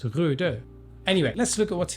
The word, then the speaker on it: RØDE: They have that O with that, which, you know, I'm not Scandinavian. Don't call me Scandinavian. But as far as I know, that should be pronounced RØDE.